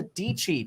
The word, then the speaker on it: Dietschy: are talking to sarah dc tech youtuber rhymes with peachy uh and we're going